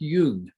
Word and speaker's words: Jung: is a guy named carl jung is how it's pronounced even though it's spelled jung it is pronounced yoon okay i'm not going